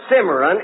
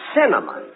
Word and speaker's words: cinnamon: Look, it isn't simmering. It's cinnamon.